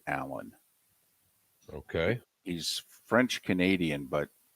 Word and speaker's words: Alain: room okay even though his name is spelled Elaine I believe he pronounces it Allen okay he's French Canadian